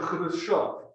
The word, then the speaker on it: Khrushchev: The leader in the Soviet Union after Stalin is this guy, Nikita Khrushchev, or in Russian, Khrushchev. We Americans say Khrushchev.